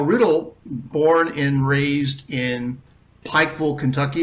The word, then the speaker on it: Pikeville: born and raised in Pikeville Kentucky if you're from that area uh it would be pronounced packful but from a very